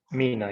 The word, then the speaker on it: MENA: MENA, is that the way it's pronounced? MENA, yeah.